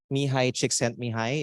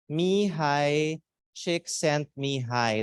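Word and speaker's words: Mihaly Csikszentmihalyi: Polish American Science psychologist mihai chick sent me hi if you want to know how to pronounce this everyone together me hi chick sent me hi that's his name and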